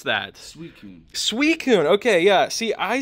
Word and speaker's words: Suicune: Suicune. I always feel like this one, how do you pronounce that? Suicune.